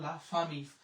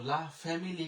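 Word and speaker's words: la famille: এরপরে এল আ, লা, এফ আ, ফা, এম ই দোজেল ও থাকলে হয় রস্যিকার, তাহলে হয়ে গেল লা ফামি। তো লা ফ্যামিলি কিন্তু বলা যাবে না, পরিবার, পরিবারের ফরাসি লা ফামি, লা ফামি।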